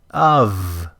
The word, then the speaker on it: of: is ends with a z even though it's spelled with an s of of not off. This is the word of it ends with a v v sound even though it's spelled with an f.